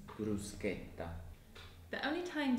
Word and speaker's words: bruschetta: Another word that is very commonly mispronounced is bruschetta, which is often pronounced as bruschetta. Oh yeah, the correct pronunciation is bruschetta.